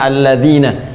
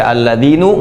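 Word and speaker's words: الَّذِينَ: tetap ya fathah begini karena itu dibacanya alladzina kita tidak baca alladzinu Enggak ada alladziini selalu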